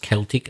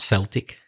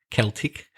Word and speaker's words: Celtic: That's Celtic. I mentioned before that's pronounced Celtic, not Celtic, Celtic.